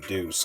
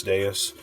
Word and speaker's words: Deus: So going into that number 4 game, we have Stella Deuce, Gate of Eternity. Stella Deus, am I saying it right? Deuce Deus? Stella Deus, I'm just going to go with Deus.